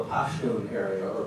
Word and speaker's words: Pashtun: Despite the fact that this area here, this whole area here, is what they call the Pashtun area, or Pakhtun, or sometimes you'll see it in old books, they'll spell it P-A-T-H-A-N, Pakhtuns.